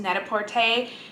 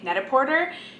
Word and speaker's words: Net-A-Porter: to this calendar also it's pronounced netaporte and like I'm super torn because most people in the US call netaparte netaporter and the terrible French speaker inside of me wants to call it netaporte I'll probably go back and